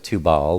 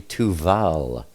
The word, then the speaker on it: Tubal: I know it looks like Tubal, but it's actually Tuval.